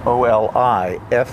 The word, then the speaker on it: Oliflix: By the way, that's spelled O-L-I-F-L-I-X. It's pronounced Oliflix because it's olives for O-L-I, and Flix for the town that it's produced in Spain, which is surrounded by a complete nature preserve.